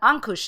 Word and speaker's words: ankush: in english and uh it's an ankush yeah i did say it right good for me um